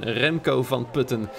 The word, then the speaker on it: Remco van Putten: here, our fellow Dutchman Remco van Putten. Yes, that is the Dutchest possible pronunciation, in fact, of that name.